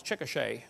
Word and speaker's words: Chickasha: 2005 textbook, and I pronounced it wrong as Chickasha, not Chickasha, Chickasha, Oklahoma.